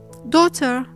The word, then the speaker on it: daughter: The question is, when is the GH silent? As you might have noticed, after the diphthong sound A and I, as well as after the diphthong sound O or the vowel sound O.